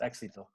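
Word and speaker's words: éxito: decals for this one called uh exito i pronounce it spanish it means success it means success exito uh anyways um very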